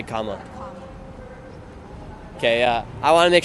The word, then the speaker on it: Kamala: Comma, like comma, like I'm gonna do a comma. Like Kamala. Kamala. Yep. Have a good day. You too. You guys, it's Kamala. You're gonna say Kamala.